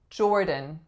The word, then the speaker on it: Jordan: up we have Jordan Jordan trickier than it looks this one so two syllables the first is the sound or then the second syllable schwa n N and it is combined via not a D sound but a flap sound because both are vowels Jordan Jordan all right